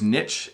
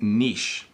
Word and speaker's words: niche: so first of all there are two pronunciations there's niche and niche okay and we use both in Canadian English but basically I make